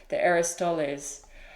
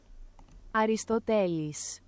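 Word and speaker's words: Αριστοτέλης: The Aristoteles.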